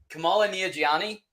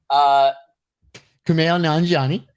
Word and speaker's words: Kumail Nanjiani: Kamala Nanjiani. Kumail Nanjiani. Yes. Sorry. Yeah. I told you in advance that I was gonna mispronounce his name over and over again.